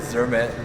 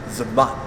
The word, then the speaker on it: Zermatt: At Switzerland, they don't pronounce it as Zermatt, they pronounce it as Zermatt.